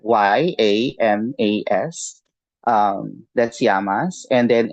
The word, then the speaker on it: yamas: hole with the yamas and yamas let me spell that um how do you say y y a m a s um that's yamas and then n i y